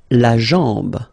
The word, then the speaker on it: la jambe: La jambe, la jambe. Okay, remember, A-M, when you combine these two, basically it's just like A-N, so it's nasal and it's en. Okay, so you get la jambe.